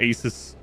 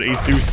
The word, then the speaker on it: Asus: brand name Asus yeah I used to call it aces and then I when I heard a commercial that said Asus and I was like surely that's not how it's pronounced but the company says otherwise another Blood went on